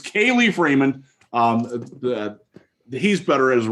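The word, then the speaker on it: Kalif: It's Khalif Raymond.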